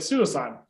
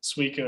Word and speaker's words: Suicune: it suicide my entire life i was like suicide yeah and then i randomly heard jake pokeynomics say like suicune and i was like huh it's like i